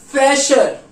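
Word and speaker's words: Fächer: अब फैशर, फैशर मतलब ये फ्रेशर नहीं, इसको ढंग से प्रोनाउंस करना फैशर, ठीक है, फैशर।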